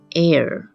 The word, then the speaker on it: heir: hour，或是像下一个字 heir air。